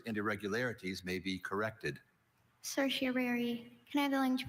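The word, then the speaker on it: certiorari: Cersiary. Can I have the language origin please? This word passed to English from Latin. Cersiary. Are there any alternate pronunciations? There is cersiary. Cersiari and cerseri.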